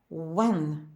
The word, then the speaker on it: when: слова сьогодні у буквосполученні WH на початку слова вимовляється тільки w Як без H смуга What що скільки We пшениця колесо When коли Where де куди